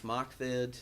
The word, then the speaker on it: MOCVD: Now we've got 2 more exciting announcements, including Alliance MOCVD, which I pronounce Alliance Mockvid. It's a little, rolls off the tongue a little bit better.